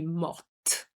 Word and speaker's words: morte: For the feminine, because you have an E, you have to pronounce the T. Je suis morte.